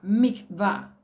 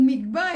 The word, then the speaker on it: mikvah: A de agua, mikvah.